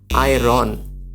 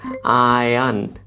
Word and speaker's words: iron: আমরা বলি আয়রন, আয়রন। আপনি এখনই গুগলে চলে যান, দেখেন এর সঠিক উচ্চারণ কিন্তু আয়রন নয়, এটি একটি ভুল উচ্চারণ। এর সঠিক উচ্চারণ হচ্ছে, আপনি অবাক হয়ে যাবেন শুনলে, এর সঠিক উচ্চারণ হচ্ছে আয়ান, আয়ান।